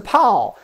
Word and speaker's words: 炮: This is a pow, this is a pow, and this is bow. You always have the same vowel part, A-O.